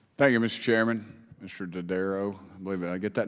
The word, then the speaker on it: Dodaro: Dodaro, I believe I get that name right? What is it? How do you say it? Dodaro.